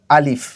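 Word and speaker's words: ا: তো প্রথম বর্ণটি হচ্ছে আলিফ। আলিফ বলার সময় আলিফ বা আলিফ এরকম কোনো টানা যাবে না, না টেনে হরকতের মতো করে এটা পড়তে হবে।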